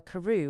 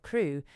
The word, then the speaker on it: Crew: Madame Pascal pronounced it as if it were Carew instead of Crew, but that might be merely a matter of pronunciation.